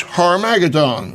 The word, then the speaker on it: Armageddon: called in Hebrew Armageddon the original Hebrew is harmagedon or the Mount of